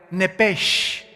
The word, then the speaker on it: Nepesh: Esa palabra alma es la palabra hebrea Nepesh, así como suena, N-E-P-E-S-H, Nepesh.